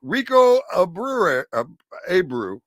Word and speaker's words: Rico Abreu: Rico Abreu.